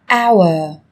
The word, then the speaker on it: hour: Trong tiếng Anh cũng có một số từ mà cách viết chúng ta thấy xuất hiện chữ cái h, nhưng khi phát âm thì chúng ta lại không cần phải phát âm này, người ta còn gọi là âm h câm.